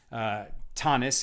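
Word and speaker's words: Taanit: It's actually in Tractate Tanit, page 23a. Tanis is the Ashkenaz way to pronounce it.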